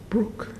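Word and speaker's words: Bryk: So my father said no no no b r y in Russia it's pronounced brookke.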